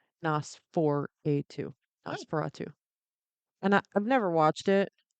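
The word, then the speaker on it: NOS4A2: has a successful book series and a TV series based on the book called um it's spelled NOS number 4 a letter or number 2. Nos 4A2. Oh, Nosferatu.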